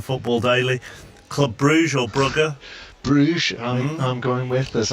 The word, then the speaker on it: Brugge: I said to him, went through all the various pronunciations, and at the end he said to me, and of course it's Club Brugge. To which I said, well, in the anglicised form, it is Bruges.